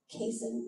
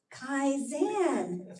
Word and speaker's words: Kaizen: And for this meditation, I'm going to take you through the Kin move. Kaizen.